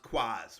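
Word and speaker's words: QoS: switches and your routers an access point called quas okay and you'll see it um you know labeled in these as q o s but it's pronounced quas right so it means quality of service so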